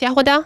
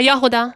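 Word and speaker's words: Jahoda: I mean, she's supposed to be Eastern European, so maybe it's pronounced Yahoda. Yeah, Yahuda.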